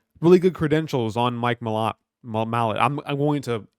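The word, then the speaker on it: Malott: mot Mallet I said I like to say Mallet but people call him or his name is pronounced mot but when he fought Mike mot he gave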